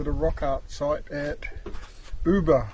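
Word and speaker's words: Ubirr: Now we're going to head up to the rock art site at Uber. I guess that's how you pronounce it. Eh, yubia. U B I R R. Yubia.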